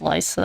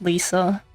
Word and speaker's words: Liza: He does pronounce it as Liza. I thought it was Lisa.